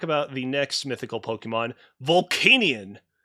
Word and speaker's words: Volcanion: the next mythical pokemon vulcanian or volcanion i don't know how it's pronounced i i say vault canyon like volcanic yeah i like that